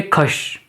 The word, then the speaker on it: खश: जाति थी वो थे खश। कहीं-क जगह इनको खस भी कहा गया है। श और स का प्रोनाउंसिएशन किसी का अलग-अलग होता है। तो बेसिकली इनका नाम जो खश था।